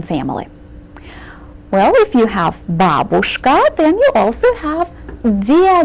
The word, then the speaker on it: babushka: careful with this word the accent falls on the first syllable you said babushka one more time babushka then shift the XM to the second syllable babushka babushka is grandmother and